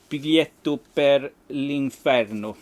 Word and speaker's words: Biglietto per l'inferno: Biglietto per l'inferno. Yes, that's exactly how you pronounce that.